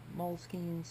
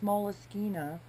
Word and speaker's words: Moleskine: I've heard so many different ways to say it. I believe it's moleskina if you're being correct, but I could be wrong there as well.